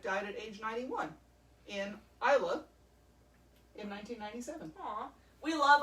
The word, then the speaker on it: Islay: Died at age 91 in Islay in 1997. Aw. We love Isla. That's where our favorite scotches are from. It is. To Americans, it is spelled Islay, but to the Scots, it's Isla.